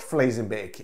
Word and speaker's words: Vlezenbeek: Belgium, specifically in Vlezenbeek, spelled what if you were pronouncing it in German, it looks like it says Vlezenbeek. It's pronounced Vlezenbeek. It's Dutch. And it's similar to German, but it does have its own distinctly different pronunciations.